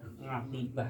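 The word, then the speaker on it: عاقبة: Jadi kalimat akibat yang sering diucapkan oleh kita ini, akibatnya begini-begini, ini diambil dari bahasa Arab ya. Aqibah, kalau bahasa Arabnya aqibah. Jadi orang kita nyebutnya akibat.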